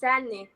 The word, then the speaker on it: Sanni: So without further ado, let's bring in Sonni. Did I pronounce that right? Almost. Yeah, it's pronounced Sonni.